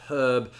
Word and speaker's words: herb: Similarly, when we're talking about pronunciation, a lot of Americans have a tendency to drop the H on herb, whereas the British tend to keep it, but that was not always the case.